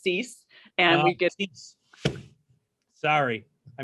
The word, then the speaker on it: Seuss: love to help stacy seuss uh dr seuss nothing i mean dr seuss did you get that all growing up are you any relation uh that's my married name um it's pronounced cease and we get sorry